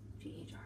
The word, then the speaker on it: Ghriba: I don't want to say it again because I'm killing the pronunciation so bad. Ghriba. Ghriba.